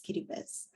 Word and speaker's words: Kiribati: It's spelled out as Baniti, in which the TI is pronounced as S, and that's why Kiribati is pronounced as Kiribati.